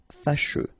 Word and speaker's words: fâcheux: So final X not pronounced, and then you get your combination of E, U, E. Fâcheux.